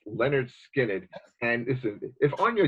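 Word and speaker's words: Lynyrd Skynyrd: And the first Leonard Skinner album, pronounced Leonard Skinner.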